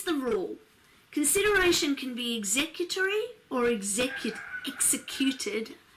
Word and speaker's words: executory: rule consideration can be executory or executive executed soon as you say executory you want to change the emphasis on the syllables don't you it can be executor